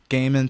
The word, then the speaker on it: Goeman: As of right now, it's just my name, Gaiman, spelled Goeman. My last name is of like Dutch German descent, so that OE makes that A sound.